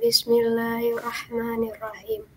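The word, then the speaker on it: بسم الله الرحمن الرحيم: Bismillah, jadi setengah R. Bismillahirrahmanirrahim, bukan nir. Oke ya.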